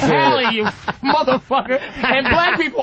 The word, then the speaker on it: Halle: Haley it's Halle, you motherfucker.